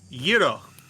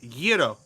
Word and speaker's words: gyro: It's gyro. It's kind of a soft g in the back of your throat. Gyro.